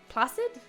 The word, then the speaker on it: placid: Placid? Placid. It rhymes with flaccid.